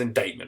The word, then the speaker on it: indictment: you to court but that's pronounced indictment right there's a weird